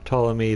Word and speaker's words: Ptolemy: of Egypt cool talk I can't do it with a silent P Ptolemy the fourth a lot